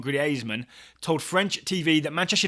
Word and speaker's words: Griezmann: agent of antoan Griezmann or to pronounce it correctly like Ryan Bailey does agent of antoan gasman told French TV that